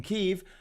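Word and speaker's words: Kyiv: jesus christ uh in kiev which is the correct pronunciation of the ukrainian capital in kiev ukrainian officials say russian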